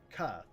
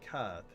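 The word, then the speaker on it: Kaathe: Or I could go to Koth. Yeah, Koth is how you say it.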